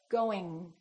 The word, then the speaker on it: going: you produce the g let the G just kind of stay there going going going don't release